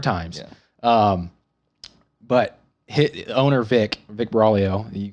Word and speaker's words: Buraglio: But owner Vic Buraglio, you can't pronounce his last name. I can't. Yep, that guy. Silent G.